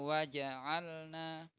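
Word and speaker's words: وَجَعَلْنَا: Waja'alna. Kayak bilang jajan. Nah, nggak ada berhentinya kan, tidak ada saktahnya sama sekali.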